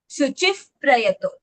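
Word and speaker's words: शुचिः प्रयतो: So visarg, if it follows pa, then visarg ka sound becomes pa. Shuchif prayato.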